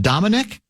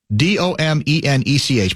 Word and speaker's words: Domenech: Fox News contributor Ben, is it pronounced Dominic? Domenech.